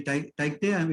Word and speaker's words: Tauktae: It's actually Tauktae, if I'm actually pronouncing correct.